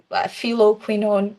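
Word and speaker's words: phylloquinone: It's also known as pheninoquinone, feloquinone. Sorry for my pronunciation if it's wrong, but the ph sounds like F. So F for food.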